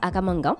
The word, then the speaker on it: Akam Angang: Notre invité est Maître Akamangan. J'espère que je prononce bien.